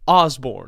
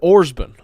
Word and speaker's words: Osborne: Well, it's like the last name Osborne. You know, the last name Osborne. Yeah. My grandfather like Ozzy Osbourne. Yeah. My grandfather pronounced it Orsborn. And that's how everybody in this area pronounced it. Well, he was just wrong. If it's not spelled with an but that's how everybody pronounced it. I've heard it Osborne too. Yeah, like but he said it like Orsborn.